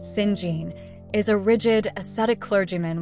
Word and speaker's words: St. John: St. John, pronounced Singene, is a rigid, aesthetic clergyman with a stern sense of duty.